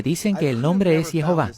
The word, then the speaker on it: Jehová: Y hasta hoy he encontrado 16 rabinos que dicen que el nombre es Jehová.